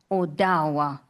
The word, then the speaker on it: Odawa: And Ottawa Owa, that is how you say Ottawa. Odawa.